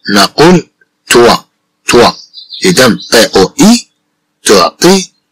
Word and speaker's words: toit: Bien sûr, avec le mot toit, on entend le son wa. Avec le mot toit, on entend le son wa. إذا مع كلمة توا نسمع الصوت و نقول توا توا.